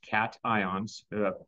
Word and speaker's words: cations: all works out okay capped ions that's how it's pronounced cat ions from cathode ray tube cathode cat ions that's the name okay